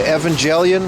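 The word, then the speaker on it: Evangelion: Got the Gojira, the Evangelian, which is the right way to pronounce it.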